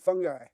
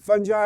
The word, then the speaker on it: fungi: Has anyone ever seen the movie Fantastic Fungi? There's different way you can pronounce it fungi or fungi.